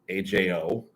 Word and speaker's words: Ajo: And then a little further down, you go to Ajo, AJO. Ajo is what's pronounced.